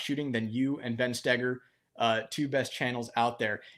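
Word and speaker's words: Stoeger: than you and Ben Steger, two best channels out there. Yeah, and we both have last names that have the darn German OE that isn't pronounced like OE.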